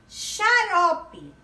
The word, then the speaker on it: xarope: Xarope. A letrinha X, né? Mas o som é de CH.